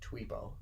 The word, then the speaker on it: Twippo: No, They say Twippo in the according to the wiki, the movie says Twippo. you pronounce the I in Twippo's name as in the English word machine, which would make it Tweepo.